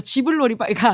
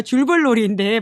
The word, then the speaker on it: 줄불놀이: 워낙 소도시 여행들이 인기이긴 할 텐데 제가 실수했습니다. 지불놀이가 아니라요. 줄불놀이인데 발음을 좀 실수했다라는 말씀을 드리면서 그러니까 저런 것들이 좀